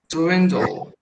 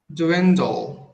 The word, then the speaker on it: dwindle: Dwindle. Repete? Dwindle. Eu acho que ainda estou escutando um sonzinho de vogal entre o da e o la.